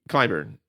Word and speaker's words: Clyburn: Clyburn.